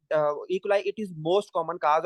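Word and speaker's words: E. coli: UTI that is your Arshia क्लाई इसको different लोग different तरह प्रोनाउंस करते हैं लेकिन मैं इसको कहता हूं इकलाई ठीक है मोस्ट कॉमन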